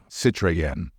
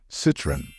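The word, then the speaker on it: Citroën: this French car brand many non-native speakers tend to say it as citen putting the stress on the last syllable however in English the stress falls on the first syllable moreover in English there are only only two syllables so the correct pronunciation is citen be careful was a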